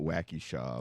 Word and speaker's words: Waukesha: that's no smoke in Waka I said it right okay around here we call it wacky Shaw but wacka wacka the